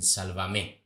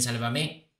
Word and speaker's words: Sálvame: a llamar igual pero con la diferencia que el acento en la tilde irá en sálvame precisamente ahora ahora espero que Belén Esteban no lo cambie porque ella siempre había dicho Estoy en sálvame Y que siga diciendo